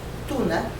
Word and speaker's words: tuna: Tuna, like the tuna fish, but it's tuna, T-U-N-A, in Spanish is the fruit, or nopal in the Nahuatl language.